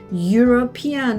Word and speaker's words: European: European 얘도 모음으로 시작하잖아요. 그렇지만 발음을 해보면 European 하니까 얘도 그래서 J 같은 하는 소리가 들어가요.